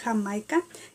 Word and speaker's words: Jamaica: call agua de jamaica you spell jamaica like jamaica but it's pronounced hamaika and it is like